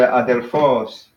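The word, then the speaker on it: ἀδελφός: So that'd be similar to adelphos, where the accent is at the end.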